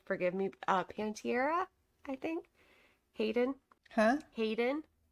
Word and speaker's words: Panettiere: okay another one that we can't I can't pronounce the last name forgive me uh pantiera I think Hayden huh Hayden oh Hayden Panettiere yeah I didn't yeah Hayden panett's here I